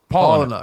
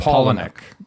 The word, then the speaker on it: Palahniuk: How is it actually pronounced? I don't know. Palahniuk. Palahniuk.